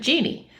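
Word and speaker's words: Jeane: Spell it J E A N E or J E A N E and pronounce it genie.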